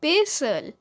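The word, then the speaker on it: pestle: दस्ता, दस्ता को इंग्लिश में कहते हैं पेसल, पेसल। यहाँ पे टी साइलेंट है।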